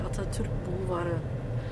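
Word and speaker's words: Atatürk Bulvarı: Also richtig ausgesprochen heißt es natürlich Atatürk Bulvari.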